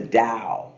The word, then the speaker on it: Tao: the ease of The Da and Tao is how it's spelled it's pronounced da not Dow Jones but the da meaning